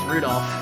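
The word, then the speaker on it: Rudolf: That means that mess of characters is pronounced Rudolph. He must hate grandfather for giving him that name.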